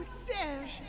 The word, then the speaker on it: Serge: Okay, so his name is pronounced Serge, so it does rhyme more with concierge, which I guess I should have known. I said Serge because I wanted it to rhyme with concierge, but isn't it typically like Sergey? Is how you would say a name like that?